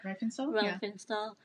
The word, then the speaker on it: Riefenstahl: Riefenstahl, together at a party.